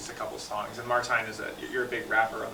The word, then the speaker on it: Martijn: Martijn, yeah.